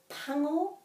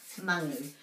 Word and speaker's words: pango: And I use pango for black, pango, and some people have, because of that song usually, mangu. But I say pango.